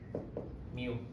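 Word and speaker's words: μ: you would say it it's spelled like this me like a cat that's in a hurry it's back me this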